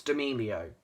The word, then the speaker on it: D'Amelio: It's D'Amelio. Just get that in your mind and say D'Amelio. Don't go D'Amelio.